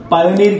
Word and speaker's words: Payoneer: दोस्तों, मैं बात करने वाला हूं पेयोनियर की। लोग कुछ पायोनियर कहते हैं, कुछ पेयोनियर कहते हैं, मेरी प्रोनाउंसिएशन जो है पेयोनियर पे है।